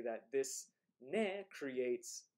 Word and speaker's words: ね: times textbooks say that this ne creates like a closeness between speakers.